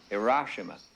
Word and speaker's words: Hiroshima: It's pronounced Hiroshima.